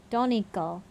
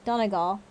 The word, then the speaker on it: Donegal: comes from the malin area of donegal donical donegal donegal there we go we got it donegal right up on the